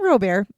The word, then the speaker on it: Roebert: And I'm saying Robert. Here's why I'm saying this. His name is spelled Roebert.